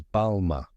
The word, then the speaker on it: Balmain: second part is ma with a soft nasal French n that you don't fully pronounce now say it with